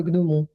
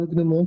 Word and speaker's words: gnomon: ça se dit bien gnomon voilà ça se dit bien gnomon comme gnose comme bagnom comme comme tout ça voilà j'ai vérifié parce